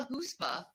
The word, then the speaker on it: chutzpah: That is how you pronounce it.